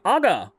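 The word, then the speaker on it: ага: Very funny how you say aga. It's Russian for yep / yeah, hence the nodding emoji. And it's emphasis on the second A.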